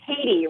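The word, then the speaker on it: Tady: It's actually Taddy. Rhymes with lady, yes.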